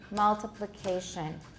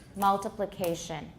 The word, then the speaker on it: multiplication: You'll find that you can tap on the first and the 4th syllables, multiplication. The 4th syllable seems to have a higher or the same degree of stress.